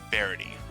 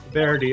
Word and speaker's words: Verity: It's actually Varity. though. Verity. Okay.